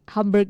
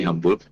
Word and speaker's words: Hamburg: Jadi kemarin memang baru semalam pulang dari Hamburg. Ternyata bacanya Hamburg bukan Hamburg. Oke, Jadi, Hamburg, oke. Iya, bahasa Jerman itu seperti bahasa Indonesia, hurufnya dibaca Baca. seperti hurufnya, Oke. bukan U dibaca A kayak bahasa Inggris.